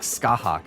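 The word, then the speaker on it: Scáthach: It's like Skahawk or something like that. Like, who would have thought it would be Skahawk? Basically, like, the T is completely silent.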